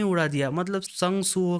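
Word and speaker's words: Sung Suho: शुरू करती है जिसमें वो कहती है शंग शु हो तो उसे उसका नाम प्रोनाउंस नहीं करते आता। तो उसके वजह से सुहो एक बार फिर से उसे कहता है कि मेरा नाम है संग सु हो।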